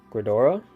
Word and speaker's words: Gredora: We have 4 of the main girl, Gredora.